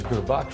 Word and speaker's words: Gurbaksh: being respectful of someone and my name is guru buck but nobody knows how to pronounce it so everybody just started calling me